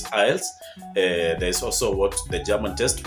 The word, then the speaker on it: IELTS: I know there are varied pronunciations of the acronym for English test. It's IELTS.